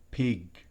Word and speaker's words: pig: Recuerde, pig. No es pig. No, es pig. Cierra, oclusivo, recuérdenlo. Es importante que recuerde que la G al final, en inglés, es siempre oclusiva. No es como en español, sino total bloqueo.